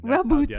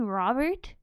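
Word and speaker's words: Roboute: Rabute. That's how it's said. An analyst, a diplomat. Sorry, what was your name? Rabute? Do you mean Robert? No, Rabute.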